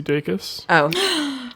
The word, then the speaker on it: Dacus: that, so on Lucy Dacus's most recent album, there's a song called Please Stay. And Hannah, I need to issue a formal apology. I think you were right that it's Lucy Dacus.